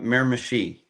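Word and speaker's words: Miramichi: So, what's the How do you pronounce the dragway that you're at? Um, Miramashi. Miramashi.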